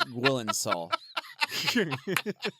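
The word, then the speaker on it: Gyllenhaal: You're pronouncing it wrong, by the way. It's Gwilensall.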